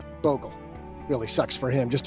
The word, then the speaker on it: Bogle: didn't invent Boggle, and his last name's actually pronounced Bogle.